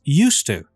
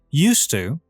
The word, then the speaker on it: used to: so the pronunciation is used to the D is not pronounced the D is silent used to didn't used to did